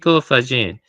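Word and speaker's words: Faggin: I was pronouncing his name wrong before, but it's Frao Fajin.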